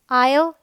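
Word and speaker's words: aisle: तो यहाँ देखिए एस के बाद एल है, आयल, इसे भी हम आयल बोलते हैं।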